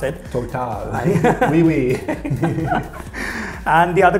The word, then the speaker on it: Total: That's how you pronounce it. Total.